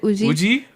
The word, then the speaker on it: Woozi: Lil Uzi Vert. Yeah, you got it. WOOZI.